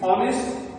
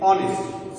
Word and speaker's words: honest: H, but H is consonant. but here the sound is silent. Okay, you cannot use this H here in pronunciation because the pronunciation of H is silent. Rather, you will see the honest and that is honest.